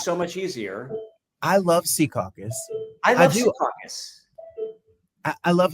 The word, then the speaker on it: Secaucus: Not Secaucus. It's Secaucus. And you got to say it like that. Secaucus.